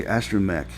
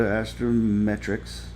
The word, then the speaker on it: astrometrics: There I said it said it right. I always want to say astromec like Star Wars, you know. And uh so her and seven go to astrometrics and the alien wants